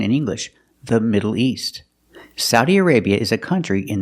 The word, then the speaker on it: Saudi: The best one, or the most common one, is Saudi, Saudi Arabia, using the sound ow like cow and how, Sao, Saudi Arabia. But some people say Saudi, Saudi Arabia, using the aw sound like in automobile.